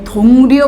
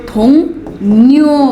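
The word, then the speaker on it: 동료: हुन्छ के त्यही भएर यसलाई हामी थोङ्रयो भन्दैनौ यसलाई हामी थोङन्यो भन्छौ के भन्ने बेलामा थोङयो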